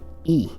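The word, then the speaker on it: え: And to be honest, it's easier if we just always know that this is always pronounced E. It will never be pronounced I or anything else, okay?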